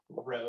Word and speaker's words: rho: All right, and so this guy, it's the Greek letter rho. It's spelled R-H-O, but we pronounce it rho, and it looks like a curvy P.